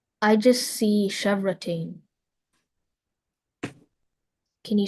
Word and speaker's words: chevrotain: Are there any alternate pronunciations? I just see chevrotain.